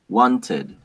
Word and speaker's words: wanted: No, it's d, t, id. Right? It's going to be cleaned, worked, wanted.